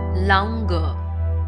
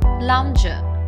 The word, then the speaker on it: lounger: incorrectly pronounce it as Lunger please remember the G here would be pronounced as J and therefore the correct pronunciation of the word is lounger wingback is a chair